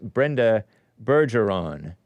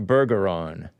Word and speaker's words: Bergeron: It's pronounced Brenda Bergeron, not Bergeron.